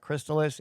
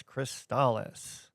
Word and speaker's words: Crystalis: It's not Crystallis, it's Cristales.